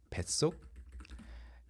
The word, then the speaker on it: 뱃속: But if you want to say inside your stomach is comfortable, uncomfortable, it's 뱃속. Because that's how people, pronunciation is the first, how people pronounce it. So you mark the fact that people have to pronounce it like 속 with the 시옷.